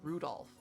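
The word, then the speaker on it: Rudolf: It's just Anyway, the guy's name is pronounced Rudolph.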